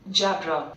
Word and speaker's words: Jabra: Pronunciation क्या है अजीब सी, कोई जाबरा बोलेगा, कोई जैबरा बोलेगा, कुछ भी होगा वो मैं चेक कर लेते हैं क्या बोलते हैं भाई इसको। रुको एक मिनट। जाबरा। जाबरा ही बोल रहे हैं भाई ये तो।